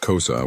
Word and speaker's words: Xhosa: The Xhosa, pronounced Xhosa with a click sound at the beginning, are one of the largest and most influential ethnic groups in South Africa.